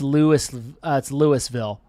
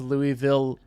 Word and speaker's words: Louisville: That I pronounced Louisville, not Louisville. Louisville. It's Louis, like Looi. No, Louis. it's apparently it's not.